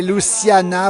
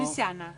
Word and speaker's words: Luciana: Le café Luciana, vous dites comment? Vous prononcez comment? Luciana. Luciana. Il ne faut pas accentuer avec le Z, il faut pas mettre l'accent sur le final, même en Savoie.